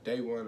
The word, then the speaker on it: De'One: to spell it because that is a hispanic you know that's a spanish way of spelling or saying day that's that's how it's